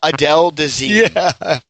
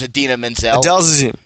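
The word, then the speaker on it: Idina Menzel: the audio of that he's like and now ad Adele deine that's what he said when her name is Adena Menzel Del de and he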